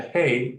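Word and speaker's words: היא: if you don't have a chilik underneath the hey in this word, you still know how it sounds.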